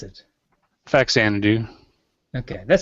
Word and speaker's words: Faxanadu: Faxanadu. Okay, that sounds right. Faxanadu. Yeah. I was a little confused on whether the X was pronounced with a Z.